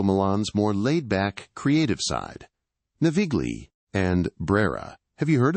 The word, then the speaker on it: Navigli: And just so you know, it's pronounced Navigli. Navigli, got it.